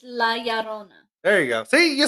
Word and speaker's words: La Llorona: I can't pronounce it. Lorona or It's La Llorona.